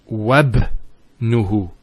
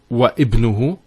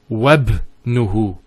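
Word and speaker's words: وابنه: we're actually reciting it, we don't pronounce this Hamza. We go straight to the ba. So it's wabnuhu. It's not wa ibnuhu, it's wabnuhu. It's like it joins the waw to the word ibn.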